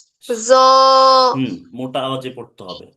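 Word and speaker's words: ج: জিম। জিম। জিম হচ্ছে শক্তভাবে উচ্চারণ করতে হবে।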